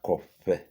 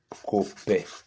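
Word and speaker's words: kope: Soga Copper. Not Cope. Not Cope. Not Cope. Cope means nothing. There's no meaning to it.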